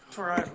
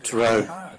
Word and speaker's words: Tyrone: Yeah, Tyrone. Tyrone. Yes. Had the emphasis on the wrong syllable.